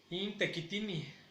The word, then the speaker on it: intequitini: Intequitini, intequitini. Tequitini se deriva de tequit, que es trabajo. ¿De acuerdo? Entonces, los trabajadores lo pronunciamos como intequitini.